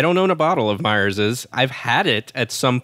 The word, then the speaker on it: Myers's: I do you know when I say Myers is I feel like people are going to be like why is he saying it like that but that's just the right way to say it okay so you know